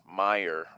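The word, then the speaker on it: Meijer: that's around this area meyer it's pronounced m-e-i-j-e-r big stores stores are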